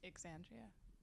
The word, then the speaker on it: Xandria: You It's pronounce the X, so it's Xandria.